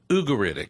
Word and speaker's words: Ugaritic: Well, I you know, being a Texan, I I pronounce it ugeritic. Yeah. But my professor, Eugene Merrill, said it's ugeritic.